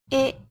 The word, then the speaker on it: へ: Particle although it writes he, when pronouncing it, we have to say e.